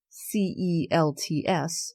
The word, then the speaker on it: Celts: But the Celts, C-E-L-T-S, it's spelt the same as our Celtics that we have here in Boston, but we say Celtics wrong so it should be Celts.